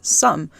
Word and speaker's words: Ssum: that um it's pronounced some so some is actually a loan word in korean from the english word something and so the idea